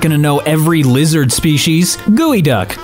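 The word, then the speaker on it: geoduck: Gooey duck. I will never get over that that's how you're supposed to pronounce that name with how it's spelt.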